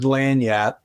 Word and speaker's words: lagniappe: If you're trying to say it properly, I always say go by the phonetic, which is L-A-N-Y-A-P. Lagniappe.